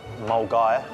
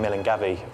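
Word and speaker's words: Milngavie: tick office in glasgow it was just the pronunciation of the stations mulgaire as i was saying mill and gabby or is another one as well i'll do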